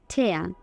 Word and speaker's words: tear: এই শব্দের যখন ভার্ব হিসেবে উচ্চারণ হয় তখন হবে ঠেয়া, ঠেয়া। আইপিএস সিম্বলটা দেখো, এয়া, এয়া, তাহলে ঠেস, এয়া, ঠেয়া। ভার্ব হিসেবে এর অর্থ কী বোঝায়? ছিঁড়ে ফেলা, ঠেয়া। আর যখন একই শব্দ নাউন হিসেবে অর্থ প্রকাশ করবে তখন উচ্চারণটা হবে ঠিয়া, ঠ ইয়া, ঠিয়া, ঠ ইয়া, ঠিয়া।